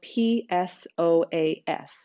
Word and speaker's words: psoas: word psoas is spelled p-s-o-a-s so the p is silent it's pronounced psoas muscle